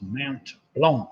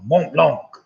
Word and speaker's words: Mont Blanc: mountain in Europe behind al Burris of causes Mount Blanc Mont Blanc ah number eight that coin hours after his